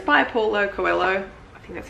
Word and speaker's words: Paulo Coelho: It's by Paulo Coelho.